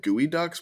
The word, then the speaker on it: geoduck: think they're all like gooey ducks but it's spelled like it's not at all spelled that way but it's like the